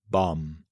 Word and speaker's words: bomb: Now, for one of the most puzzling silent letters, the B at the end of words like climb, thumb, lamb, numbum, bomb. The rule here, when a word ends with MB, the B is usually silent.